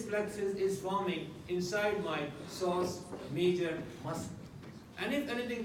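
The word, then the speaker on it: psoas: is sauce sauce region we write with the P P is silent never bothered for sauce it is sauce so this muscle is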